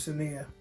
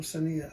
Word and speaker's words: Cynea: me her name was Cynea, I imagined it being spelled with the S. S-O-N-I-A or something like that, like Sonia or Cynea. So I didn't realize it spelled the C at first.